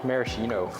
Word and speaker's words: maraschino: How do you pronounce this? Maraschino? Maraschino.